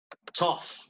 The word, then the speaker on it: tough: Esto sería tough, la pronunciación. En esta palabra, in this word, GH sounds like an F.